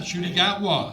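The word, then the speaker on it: Ncuti Gatwa: told me that uh and you'll have to pronounce his name shoy shoy huh shy gwa yes the new Doctor Who right wow worked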